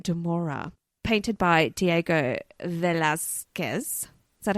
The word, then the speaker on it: Velázquez: And it's a portrait of Sebastian de Mora, painted by Diego Velázquez. Is that how you say it? Velázquez?